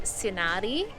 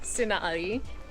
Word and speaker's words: Sighnaghi: Alright, we have come to Signagi, which is actually spelt sighnaghi, but pronounced Signagi.